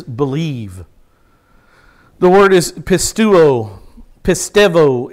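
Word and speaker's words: πιστεύω: the word is pistuo pistevo is how the greeks would pronounce it pistevo it it's um in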